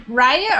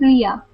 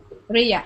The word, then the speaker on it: Ria: And do you say your name Raya or Ria? Or how do you say your name? No, it's Ria. Ria.